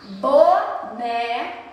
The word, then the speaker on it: boné: Boné, né? A gente pronuncia essa palavra com som nasal aberto.